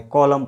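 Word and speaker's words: column: यहाँ पर भी एम के बाद एन आ रहा है तो इसमें भी एन को साइलेंट रख देता है, कॉलम पढ़ा जाता है।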